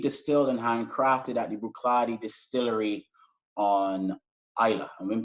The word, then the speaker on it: Bruichladdich: So really and truly, it's not Bruichladdich, it's pronounced Bruichladdich. So the second CH is, you don't pronounce that. So it's Bruichladdich, basically, right?